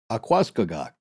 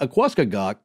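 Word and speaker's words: Aquascogoc: In this case, it's spelled A-Q-U-A, so like aqua, and then C-O-G-O-C. So to me, Akwaskagak. Yeah, there right.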